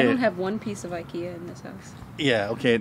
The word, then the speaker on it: IKEA: your house that is ikea ikea that's a swedish pronunciation and english we saw aiki ikea ikea okay it's